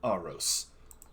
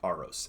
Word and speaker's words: Aros: right uh Sophia you your name I am arose and I am the leader of this Insurgency you are no Inquisitor so I asked again who are you oh how do you pronounce his name again arose a-r-o-s art I was gonna say a rose